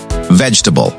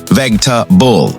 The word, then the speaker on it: vegetable: Another example, vegetable. Vegetable, not vegetable.